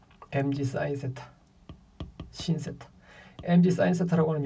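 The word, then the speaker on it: sin: mg 사인 세타인데 이거는 mg 사인 세타라고 읽지 말고 신 세타, mg 신 세타. 빗면을 따라 내려오면 신나잖아요. 그러니까 신난다 해서 신 외우면 됩니다.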